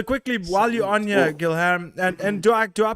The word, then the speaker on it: Guilherme: You can say like Spanish, say like Guillermo. Okay. It's the same name. Over here it's Guilherme. Guilherme. Okay, perfect. I don't mind. Yeah. No, but I'm one of those people who I like to pronounce people's names correctly. So it's Guilherme.